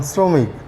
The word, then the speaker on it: শ্রমিক: দন্ত উচ্চারণ উচ্চারণই হয় যেমন শ্রমিক এখানে দন্তস এর দন্ত উচ্চারণ হয়েছে আবার কোন কোন সময়